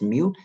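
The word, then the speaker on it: μ: thousandth okay and and mu case Greek letter pronounced mu stands for micro we pronounce micro stands for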